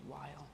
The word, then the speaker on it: Weyl: last name is pronounced Weyl.